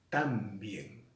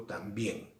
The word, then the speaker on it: también: Yo no digo tan bien, digo también.